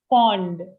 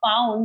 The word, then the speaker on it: fond: But the pronunciation is fond. Fond. Fond. Okay. Yeah, correct. Because if you add like a found, it will sound like found something.